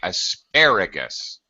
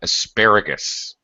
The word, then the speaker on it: asparagus: uh a little more okay asparagus the stressed syllable is the second syllable the last syllable is is is unstressed so it's very short asparagus Gus just Gus not Goose but asparagus uh okay I just